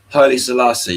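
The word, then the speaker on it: Haile Selassie: So, it's further uh Hi Salassi, right? Did I say it right? Hi Salassi.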